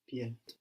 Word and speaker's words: pied: Pied. Pied. Pied. Pied. The D on the end, we don't pronounce it now. Pied.